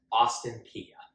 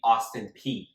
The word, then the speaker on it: Austin Peay: Austin Peay.